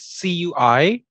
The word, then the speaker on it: cuisine: For our podcast listeners, it's C-U-I-S-I-N-E, and it is pronounced cuisine with a Z, with a Z or Z instead cuisine. Of an S.